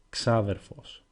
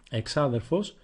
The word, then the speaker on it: ξάδερφος: Now, as you can see, there are three different ways with which you can pronounce the word ξάδερφος. The first way, εξάδερφος, it is rarely used. It sounds too formal and you will almost never hear it in everyday language.